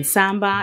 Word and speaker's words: sambac: Then we have middle notes of jasmine sambac. Sambac is how you say it.